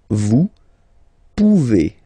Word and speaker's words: pouvez: Then vous pouvez. Okay? Classic ending as well for the vous form. A Z like that. Okay? Remember you pronounce it E. Okay?